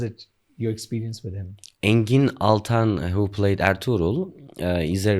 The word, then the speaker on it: Engin Altan: Okay, so tell me, you have worked with Engin Altan, if I'm pronouncing it right. Yeah, that's Engin Altan.